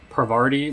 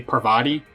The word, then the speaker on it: Parvati: Also, apologies in the other videos where I kept saying Parvati, where it's definitely Parvati. I can read, I know it's Parvati, but I had a friend that pronounces it Parvati for whatever reason, and